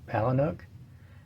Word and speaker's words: Palahniuk: And then we have Fight Club by Chuck Palahniuk, and I think that's how he pronounces his last name. I've heard it pronounced several different ways. Palahniuk's the way I've heard him pronounce it, I think.